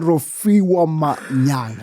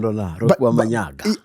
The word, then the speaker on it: Rofhiwa Manyaga: Ladies and gentlemen, Rofhiwa Manyaga. Am I saying it right? Very right. Down, Rofhiwa Manyaga.